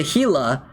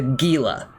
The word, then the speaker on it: Gila: So I don't want to confuse people and say, "Oh, target the heila." They might target the healer when I want them to target the Gila. There's nothing that could be mistaken for Gila. So that is my that is my justification for pronouncing it wrong.